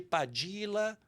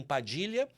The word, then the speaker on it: Padilla: sobre o sangue de padila que eles que eles pronunciam Padilha bravo e baldonado eu eu falo padila porque se eu se eu disser Padilha quem não nunca viu termina escrevendo com lh e eu fiquei com trauma